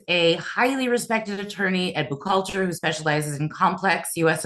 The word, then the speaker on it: Buchalter: Is that how you pronounce? Buchalter. Yeah, all right. It's Buchalter.